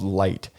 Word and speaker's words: Lyte: with a company called Lite. Lite is spelled Lyte.